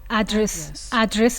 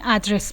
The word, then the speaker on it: address: اینم دوستان از noun ما تلفظشو ادرس میگیم، ما چون امریکن داریم یاد میگیریم اوکی ادرس میگیم، اما بریتیشا ادرس میگن. استرسش هم روی دیه، اما برای امریکن استرس روی سیلاب اوله ادرس.